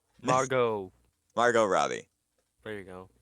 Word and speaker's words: Margot: Margot. Margot. Margot Robbie. There you go. I was seeing if you were pronouncing the T or not.